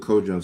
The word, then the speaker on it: Kojo: And I'm just so grateful that show rhymes with Kojo, so that way it just rolls off the tongue.